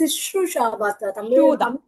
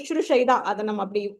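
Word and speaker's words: śuśrūṣā: Shushrusha, that's Sishrusha. Tamil, I think we say it like that. Actually, it is Shushrusha. Colloquially, we say that.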